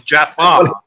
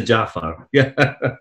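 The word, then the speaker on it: Ja'far: guy as well as mispronouncing him as jafar yes jafar as opposed to jaffa at this point you've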